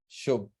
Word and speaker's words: Shubh: are confused with the name so they can't pronounce it in the first class so I named myself as shobh s h u b not even with a